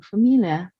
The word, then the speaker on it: familiar: And we need to know the familiar, maybe familiar. You know, Familiar. yeah, the stress is on the second syllable.